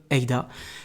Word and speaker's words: AIDA: le développement de l'apnée, plus connue comme AIDA, mais qu'il aime prononcer EDA, comme tout bon français.